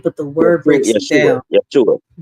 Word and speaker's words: Yeshua: Yeshua. Yeshua. No, not Joshua.